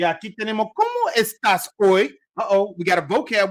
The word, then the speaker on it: hoy: What do we say hoy was? Somebody type in the chat so that we can all know what hoy means. Remember, the H is silent.